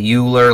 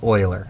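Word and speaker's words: Euler: look at his last name and you say uler like Ferris buer but it's not it's Oiler um that's the way he he pronounced it and here in lies the issue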